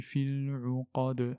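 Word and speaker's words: العقد: Qaf, lettre emphatique, et del, c'est une lettre de résonance. Et du coup, on claque la lettre quand on s'arrête. On dit wa min sharri naffathati fil uqad wa min sharri hasidin idha hasad.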